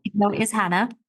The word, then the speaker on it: Jana: multiple businesses yeah so my name is Hannah but it is spelled with a J so I'm just saying